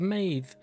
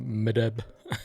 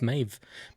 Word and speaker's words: Medb: and weirdly it's pronounced Maeve. I would not have guessed that in a million years. I'd have said something like Medb, but it's Maeve. Maeve is how the Irish would have said it, so that's how we're going.